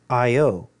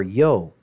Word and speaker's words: io: they would scream out IO and it says here even in the Greek it is I and an O is pronounced with two syllables so IO or Yo which then over the